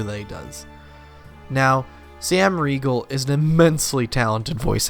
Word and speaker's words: Riegel: Sam Riegel, is that how you pronounce his name?